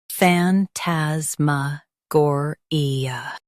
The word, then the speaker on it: phantasmagoria: M- gore e fantasma gore stress gore and keep fan light.